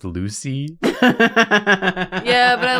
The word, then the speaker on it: Lussi: oh not much better not much better it's pronounced Lucy yeah but I like luy I think it's